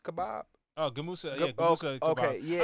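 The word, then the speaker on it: Gemüse: I might say it wrong, but Jim Yus kebab. Oh, Gamusa.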